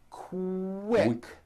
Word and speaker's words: quick: So, for example, the word quick is pronounced with a K and a strong Quick.